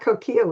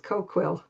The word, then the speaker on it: Coquille: And coil is not coil. It's coquill.